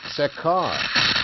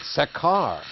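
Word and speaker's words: Sakchar: It's Sekar. You pronounce it Sekar, with the accent on the last syllable. What? Hello? Sekar. I'm calling the town Sekar.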